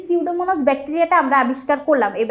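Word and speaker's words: Pseudomonas: এই যে দেখো এখানে এই বানানটা খেয়াল রাখা লাগবে যে সিউডোমোনাস আমি উচ্চারণ করতেছি কিন্তু সামনে দিয়ে কিন্তু একটা সাইলেন্ট পি আছে। এই বানানটা যখন লিখতে যাবা তখন কিন্তু এই পিটা খেয়াল করে দিতে হবে। দেখো পি দিয়ে তারপর সিউডোমোনাস সাইলেন্ট একটা পি থাকবে।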